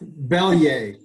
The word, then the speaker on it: Belyea: our guest is zane belya zayn is that how you pronounce your last name it's close enough bellier believe my last name